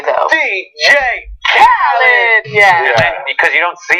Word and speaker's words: Khaled: and the actual pronunciation of DJ Khaled's name is DJ Khaled, because it's like at the beginning of every song he's ever been on. Yes. You have to shout it.